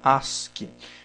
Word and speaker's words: ASCII: é o código as se escreve a s c i i mas se fala se pronuncia Ask esse código aqui ele